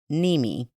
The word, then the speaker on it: Nemi: Half of Pennsylvania calls his mom by her grandmother name, Nemi, which rhymes with Mimi.